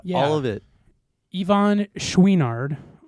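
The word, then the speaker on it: Chouinard: Ivan Schweinard. I think that's how you pronounce his. That is how you pronounce his last name. I'm telling you right now. Yeah, I yeah, know yeah. that for sure. Schweinard.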